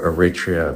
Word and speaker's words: Eritrea: Eritrea. And it's Eritrea, but Eritrea, there's another pronunciation, but it's not like it's like what people say, Eritrea or Eritrea.